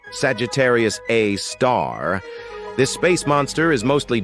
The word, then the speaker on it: Sagittarius A*: We've got Sagittarius A, which is pronounced Sagittarius A star.